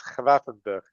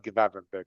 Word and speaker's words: Gravenberch: Yeah, and by the way, because you kept saying it the whole season, it's Gravenberch. It's not Gravenberch. They don't pronounce the G.